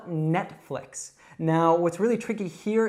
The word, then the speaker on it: Netflix: So first of all, we have that in net, so it's not Nate, it's net. Nate would actually be a man's name. And then flicks, so it's not fleeks or flikes, it's flicks.